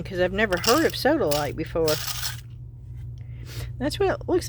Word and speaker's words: sodalite: I was laughing because I've never heard of sodaite before. That's what it looks like. It spelled like soda light. Sodaite. Like satellite only soda.